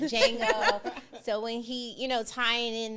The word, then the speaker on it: Django: I always called it the Django, and my ex would be like, girl, the D is silent. Django.